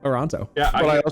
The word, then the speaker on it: Toronto: Uh, as a kid, I always pronounced the second T in Toronto and it was weird. Don't know why. Just always I always only pronounce the second T. I went Toronto.